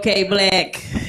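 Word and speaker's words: KBlack: good evening everybody say I go by the name of K black it's spelled kbl k as you can see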